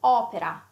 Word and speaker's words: opera: And it can be open, like in opera. Okay, opera yeah, means yeah, it's opera or work as well. Mm-hmm. Opera, you see the O, how open it is.